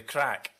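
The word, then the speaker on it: craic: is just doing it for the crack. And can you let the lawyer know that's spelled C-R-A-I-C, please?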